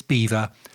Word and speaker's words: Belvoir: this is England so it's beaver as in the little furry creatures that build dams in rivers my source is a